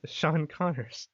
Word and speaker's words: Sean Connors: good so yeah without further Ado here is Sean Connor thanks Alex you got my name right that's